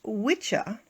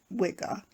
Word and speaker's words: Wicca: religion gerald gardner chose the word wicca and pronounced it wiga as the name for his newly created religion the two tonic prefix